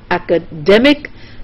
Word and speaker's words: academic: So you have academy. The K part is stressed, then you have academic, the D part is stressed, then you have academician, the mission part is stressed.